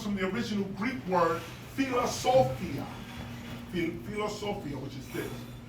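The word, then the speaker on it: φιλοσοφία: What was commonly known is that the word philosophy comes from the original Greek word philosophia. Phil philosophia which is this which in original Greek is pronounced as philosophia or in even more ancient times palosopia or pelosopa.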